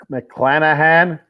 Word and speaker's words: McClanahan: McClanahan.